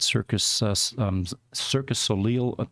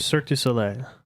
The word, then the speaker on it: Cirque du Soleil: One of them a few weeks ago was working at Cirque Soleil. He pronounced it. Cirque du Soleil. All right, there you go.